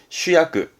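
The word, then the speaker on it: 主役: 발음은 슈야크.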